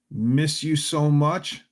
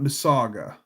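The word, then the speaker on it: Mississauga: Miss you so much. Not Misaga. Okay. So I'm saying it wrong. Hmm. Miss you so much. Huh. Okay, I always thought it was just said Masaga. Okay.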